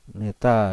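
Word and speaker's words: η: Bacanya neta ya.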